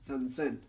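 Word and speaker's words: 三千: Japanese people have decided to make it easier on themselves by pronouncing them as Icho, Ropyaku, and Sansen.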